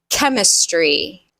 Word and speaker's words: chemistry: Sometimes CH sounds like a K. Chemistry, choir, or chorus, chaos, architect, hierarchy, character, schedule, school, ache, mechanic, choreography.